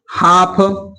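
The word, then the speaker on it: half: है, तो बताइए कि अगर एल के बाद 4 लेटर है, क्या है, अगर एम आए या एफ आए या के आए या डी आए तो वहां पर एल का उच्चारण नहीं किया जाता।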